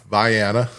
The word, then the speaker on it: Vienna: trying to trying to learn even how to pronounce Koo opposed to Cairo uh Viana instead of Vienna you know all of these things several of